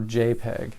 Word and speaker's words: JPEG: To do this in Photopea, click on the File menu and select Export As, then JPG, or JPEG is how we pronounce it.